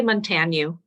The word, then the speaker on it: Montagne: tell me, make sure I got that last name pronounced correctly. Oh, I say Montagne.